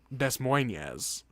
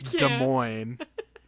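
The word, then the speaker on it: Des Moines: like an easy cross word and she goes Des Moes and I was like what is she Des Moes Iowa and I went it's de Mo and she was like no it's not and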